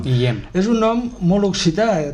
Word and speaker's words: Guillem: D'un riu, però el nom Guillem o Guillem es pronuncia així, no? Guillem.